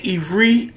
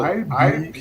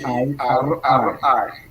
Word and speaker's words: Ibri: Are you saying Ivri, Ivri? No, No, Ibiri. Ibri.